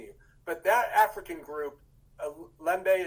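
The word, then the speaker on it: Lemba: but that african group lembe is that how i'm pronouncing it uh limbaugh l-e-m-b-a the limba um so that group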